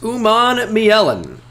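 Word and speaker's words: Umanmielen: come on up here it's uman Mellen it's not that tough to say once you know how to say it big thanks for the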